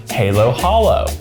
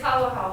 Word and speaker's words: Halo-Halo: And we also have the infamous Halo Halo, or maybe it's pronounced Halo Halo, or maybe it's Halo Hollow. It's Halo Halo. Halo Halo, I was right the first time.